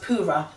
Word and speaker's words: Purah: man of the hour was a guy called pura so it's about P you are a H but it's pronounced para so for bit of context if we go